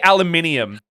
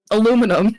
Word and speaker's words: aluminium: Yeah, now say aluminium. Aluminum. No, you fucking pronounce the whole of that word and you like it. You pronounce the full aluminium. Aluminum. No, aluminium.